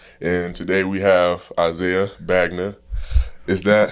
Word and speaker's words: Bagnah: co-host Caleb etan and today we have Isaiah bagner is that how you pronounce it's B yeah yeah a lot of people get it mixed up but it's pronounced ban yeah okay stop to clarify where where exactly